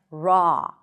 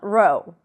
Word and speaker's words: raw: And raw. Raw food. Not row. Raw.